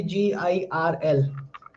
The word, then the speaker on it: girl: Burn, like similarly girl. Girl, I say girl, you can't hear r sound.